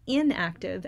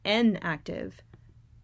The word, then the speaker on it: enactive: Not inactive, as in you're not active, but enactive, meaning muscle memory, or through action and movement.